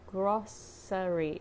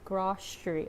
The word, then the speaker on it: grocery: And then when I hear how people around me pronounce it, I hear grocery. But when I checked the dictionary, I got confused because it said grocery, like with a sound. But what I hear around me is grocery, like sh sound, right? Like a SH sound, right?